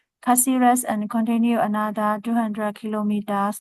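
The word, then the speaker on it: Cáceres: He would change buses in how to pronunciation? Taxi Rex. Taxi Rex. Caceres. Caceres and continue another 200 kilometers north.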